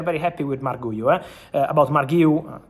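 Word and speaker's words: Marc Guiu: About Marguiu, correct pronunciation, Enzo Maresca already said that at the moment they have no intention to let him go on loan.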